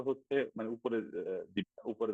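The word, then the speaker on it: ح: জিম হা হাটা একটু খেয়াল করুন। হা, আমাদের এই যে স্বাভাবিকভাবে কণ্ঠ যে আছে, তাতে দেখানো যাচ্ছে না, এই যে এইটাকে বলা হয় কণ্ঠ। এই কণ্ঠের মাঝের থেকে হা উচ্চারণ হয়, এই জায়গাটা একটু চেপে ধরতে হয়।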